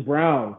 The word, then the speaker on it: Braun: that's cool um the nuggets they get kristen braun or kristen brown that's how it's apparently pronounced that's a good pick really want to